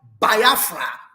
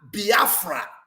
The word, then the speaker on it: Biafra: in a very simple way it is called Biafra bafra however you want to pronounce it it is spelled b i a